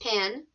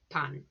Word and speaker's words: pan: huevos bread of course is pan it's not pronounced pan try it with me pan toast or in spanish they say bread toasted